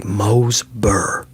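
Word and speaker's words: Mooresboro: Like there's towns around here, one's called Morsboro. Morsboro is spelled M O O R E S B O R O. People around here will say Mosber. Mosber. You going up to Mosbur?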